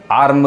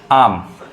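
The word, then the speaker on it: arm: जैसे यहाँ पे देखिए आम, आम, आर्म लोग कहते हैं, लेकिन असल उच्चारण क्या है, र साइलेंट होता है, आम।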